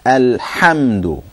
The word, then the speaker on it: الحمد: Okay, everybody, remember, it's alhamdu. It's with a ha.